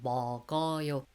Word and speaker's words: 먹어요: But the G bottom consonant carried on to the next syllable. So 먹어요.